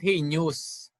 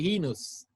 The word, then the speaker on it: heinous: 65 answered correctly he knows okay it's not he news because some filipinos will say it's a heinous